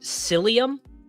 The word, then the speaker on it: psyllium: Am I a Is it psyllium? I assume the P is silent.